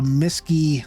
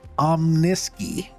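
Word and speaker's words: Omnisky: Our base stats here with the base loadouts of a Miski 9. I keep saying it wrong. Omniski 9 laser cannons, which do 1,000 DPS for both of them.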